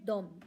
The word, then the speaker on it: dem: इसका मतलब है वह, दे, और ये भी है डोम, DEM, इसे भी हम डोम ही बोलेंगे, उन्हें।